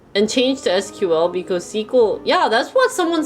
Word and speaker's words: SQL: uh you're pronouncing that wrong you're supposed to pronounce it sequel i'd be like okay well like you can spell it out if you pronounce it squeeze oh yeah even last week some people said sequel sql didn't someone say about sql what is sql